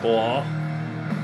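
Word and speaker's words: Mgła: The band Blah. No. That's how you pronounce it.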